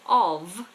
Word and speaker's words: of: is an interesting one when we say of um um a piece of cake a cup of T we pronounce the F like a V of of a cup of tea a piece of cake but then if something if we turn the light off that's an F off of off of how should I pronounce